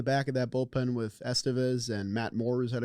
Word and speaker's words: Estevez: Estevez or I know I always put the emphasis on the wrong syllable I want to say Estevez because I think it's just kind of a cooler name but it is Estevez um maybe you add